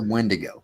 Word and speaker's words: Wendigo: Yeah, it's a Wendigo. Well, you can pronounce it different ways. They have Wendigo and they have Wetigo.